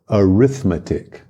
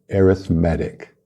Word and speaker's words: arithmetic: numbers now in English we have two words that are spelled the same they're related but they have different meanings and different pronunciations we have the noun arithmetic arithmetic and then we have the adjective arithmetic so arithmetic is the